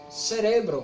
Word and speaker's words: cerebro: Álcool, cérebro, cerebro, olha que diferente, cerebro.